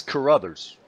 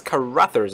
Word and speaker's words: Carruthers: Yeah, it's Carruthers. Oh man, I've been pronouncing it wrong last season and this season. That's Carruthers.